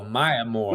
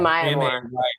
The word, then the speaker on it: Maya Moore: No, what's her name? It's Oh, Maya Moore. Maya Moore. Okay. Mayamoore. Yeah, I feel like she might outbeat her, like, probably pretty quickly.